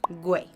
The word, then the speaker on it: Güey: just a quick tip: To remember the correct pronounciation of Güey, just remember that it sounds like the English word: "whey".